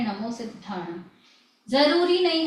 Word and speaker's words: सिद्धाणम: सिद्धाणम की स्पेलिंग देखिए, स में छोटी की मात्रा, ये द आधा है, फिर ये धा है, ये घ नहीं है, ध है, और फिर आ की मात्रा।